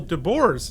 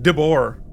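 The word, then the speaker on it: de Boer: Keith and I am pretty sure that Nicole Dbor's name is pronounced Dbor like the animal. I think I'm sure you're right. I just uh I just took a guess. So I will be hopefully correctly saying debor from now on much like this episode.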